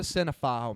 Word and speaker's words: cinephile: I'm not a cinephile, man. You say cinephile like pedophile, and I hate that.